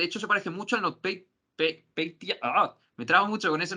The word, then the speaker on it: NotPetya: De hecho se parece mucho al NotPetya. Me trabo mucho con ese nombre. Es NotPetya, pero es NotPetya.